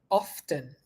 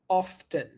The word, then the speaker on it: often: guys often often or often often so here's what you're gonna say often often for the American pronunciation or often for the British British pronunciation thank you okay I